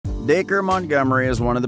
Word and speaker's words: Dacre: getting wrong how was his first name actually pronounced daker has had to explain the pronunciation of his